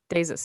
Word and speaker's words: Desus: How do you pronounce it, Steph? Deuces and Mero. Yeah, Desus and Mero.